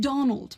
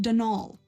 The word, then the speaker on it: Donal: that was the caretaker denal delaney not donald mind you there's no d at the end so it's pronounced denal that's the way you're